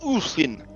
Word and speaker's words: Ulfin: All right, the Ulfin, pronounced Ulfin, are human ethnicity once feared along Avastan's coastlines for their fierce and merciless raidings they conducted in their longboats.